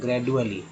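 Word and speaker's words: gradually: ग्रेजुअली। जब द पढ़ें तो ग्रेजुअली, जब ज पढ़ें तो ग्रेजुअली। तो जाहिर सी बात है डी को ज उच्चारण किया जाता है, यहाँ से क्लियर हो जाता है।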